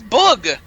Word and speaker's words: booge: also his name is why is everybody saying my name wrong it's bug the bug before 16 my mistake and today